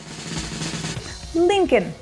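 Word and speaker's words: Lincoln: так і назва парку правильно вимовляється як linkн пишеться ось так НН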